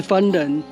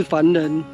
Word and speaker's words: 蕃: 的原住民，正确的发音当然应该是念成 “ 番 ”，是番人，而不是凡人。